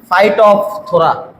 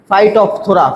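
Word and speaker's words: Phytophthora: ফাইট অফ থোরা। উচ্চারণটা ভালো করে শোনো। ফাইট অফ থোরা।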